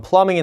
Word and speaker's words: plumbing: 보통 plumbing, 이게 대문자로 나왔기 때문에 상관은 없습니다만 plumbing이 나오면 보통 배관 쪽이라고 보시면 돼요. 배관 설비, 배관 수리 이런 쪽이라고 보시면 되겠죠. B가 묵음이기 때문에 발음이 plumbing이 되는 겁니다.